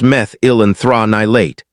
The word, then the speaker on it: methyl anthranilate: Then, almost by accident, scientists working with orange blossom extract isolated a compound called methyl anthranilate, pronounced meth-il-an-thra-ni-late, and they noticed something strange.